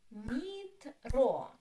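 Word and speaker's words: метро: Metro. Two syllables. Metro. O is stressed.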